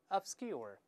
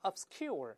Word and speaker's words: obscure: 我们先大声读一遍 obscure，注意不要读成 obscure。老师说过，在 s 这个声音后面出现重读的时候，声带要震动，也就是